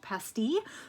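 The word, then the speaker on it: pastilles: and it was called pasty which is um it's p-a-s-t-i-l-l-e-s um and that's the French pronunciation it made me laugh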